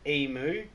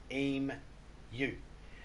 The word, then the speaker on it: emu: There's no O's in it. Moo is spelled M-O-O, you know, like cow's mate. It's eem, and then you say the letter U. Eem, U.